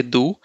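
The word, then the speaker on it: du: And how do you pronounce this one as do, right? So the without E with U will be do.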